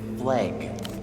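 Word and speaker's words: FLEG: They actively pronounced it flag.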